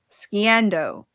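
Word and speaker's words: sgian-dubh: Specifically, I had to look up how to pronounce this. Sciandu, which is the hidden blade worn inside the sock of the Highland dress of the kilt.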